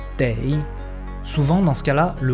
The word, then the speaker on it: 得: Et dans ce cas-là, sa prononciation change et devient dei.